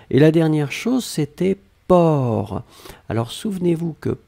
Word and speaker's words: porc: même pas nécessaire et la dernière chose c'était port alors souvenez-vous que port on ne prononce pas le ces finales d'accord mais on doit quand même l'écrire donc vous écrivez p o r c'est d'accord donc port per c'est le sait finale n'est pas prononcé